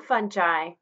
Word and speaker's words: fungi: Here we're going to discuss members of the kingdom Fungi, or fungi.